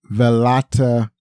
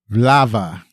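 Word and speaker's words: Vltava: before the 12-day shoot along the banks of Velata. Oh shoot! I didn't practice this pronunciation. Hold on. Hold on. I think I already got it. I got it now. It's pronounced Vlava.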